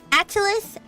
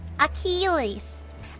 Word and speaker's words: Achilles: Atalus. Aulus. How do you pronounce his name? The the really strong warrior. Akalas. Atalus. Akalas. Atilus. Achilles.